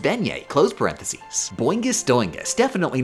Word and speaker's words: beignet: Also, it's pronounced Beignet.